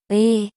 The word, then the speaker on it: 의: This vowel is 의, 의, It is made by combining u and e. So, you should pronounce u and e in a row very quickly.